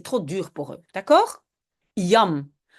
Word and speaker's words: jam: Yam. Aux Pays-Bas, souvent, on le prononce comme en anglais, donc on dit jam, souvent aussi shem, hein, mais bon, en Belgique, si on utilise yam, on dit yam, et très souvent, les